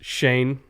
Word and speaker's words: Schoen: I know it's spelled like Schoen, but it's pronounced Shane.